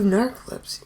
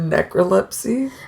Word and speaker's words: narcolepsy: Well, yeah, because you have narcolepsy. Yeah. That thing? Yeah. I'm glad I pronounced it right. Yeah. Because what's the... I almost said necrolepsy.